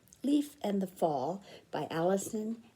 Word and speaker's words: Leif: fall might be pronounced leaf l-e-i-f some kids have and their name is l-e-i-f and they pronounce it leaf or leaf because they're leaves today i'll pronounce this leaf leaf and the fall by